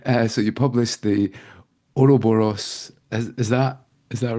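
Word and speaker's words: Ouroboros: you publish please excuse me for getting the pronunciation of this wrong uh so you published the oroboros is that is that right yeah that's perfect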